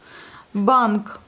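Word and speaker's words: банк: Bank. Ça s'écrit et tout se prononce. Et puis, on a notre consonne un peu sourde à la fin.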